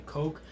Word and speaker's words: kok: hump on their foreheads also known as a coke it's spelled kok they're really really really